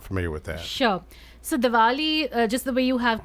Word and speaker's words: Diwali: Diwali.